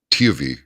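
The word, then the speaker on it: Tewie: And last night we had on it's spelled t e w i e wes s e ls but it's actually tio it's not ti it's TV vessels and he is a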